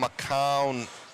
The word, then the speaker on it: McCown: Adam McCown, his on says it's pronounced, it rhymes with noun.